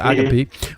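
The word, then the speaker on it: ἀγάπη: Are you aware that the ancient Greek word agape, or agape, pronounced agape, most used by early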